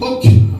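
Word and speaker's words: חֹק: Et pour terminer, on a vu les statuts en hébreu, ça se dit hok, ou hok, pardon, ou hokim au pluriel. Au singulier, ça s'écrit H-O-K, et au pluriel H-O-K-I-M, qui veut dire simplement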